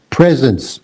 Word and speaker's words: presence: I think there's a little bit of a B sound in your P, but not much. Presence. P.